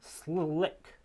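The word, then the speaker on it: SLLLC: it like that or you could say slick and so we do call it slick to talk about the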